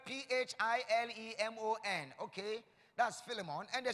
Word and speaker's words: Philemon: tell me yes the first my first name is spelled ph IL e mo n okay does Philemon and the second one is